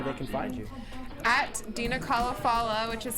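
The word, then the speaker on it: Dena Khalafallah: At Dina Kalafala, which is spelled DenaKhaLafallah, and that's on Instagram and Twitter.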